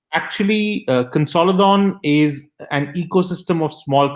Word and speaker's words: Konsälidön: company, because I don't even know how to pronounce it. Consolidon or Consolidon? Please tell us more about the name of your company, about your company, and of course about you. Sure. Thanks, Maciek. So, Consolidon, you pronounced it right the first time.